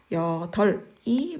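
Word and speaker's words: 여덟: 아까 리을 비읍은 어말 또는 자음 앞에서. 자, 말이 끝났습니다. 말 앞에서 리을로 발음되니까 여덜이 맞네요.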